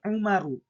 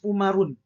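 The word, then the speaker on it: عمرُ: Tidak boleh kita menyatakan atau menulis umarun tapi harus apa? Umaru.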